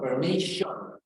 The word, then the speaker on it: permission: Permission. No permission. Permission, como si nos comiéramos la I. Permission. Permission, shun. Exacto. Y como si fuera una SH, porque tenemos doble S, suena como una SH.